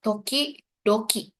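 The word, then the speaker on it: 時々: Jadi ini kanji buat ngulang pelafalan di depannya. Toki, doki. Jadi kalau orang-orang itu hito, hitobito. Tapi tulisannya nggak kayak gini ya. Tapi kayak hitobito. Kalau di sini berarti toki, doki.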